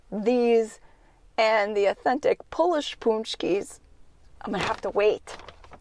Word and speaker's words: Pączki: right it's paczki day I know it looks like it should be pronounced patch key or patch key but no it's punch key so here because it's